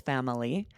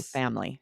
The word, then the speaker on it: family: So some people will pronounce this three syllables family. And then a lot of people drop that third syllable and they'll say family.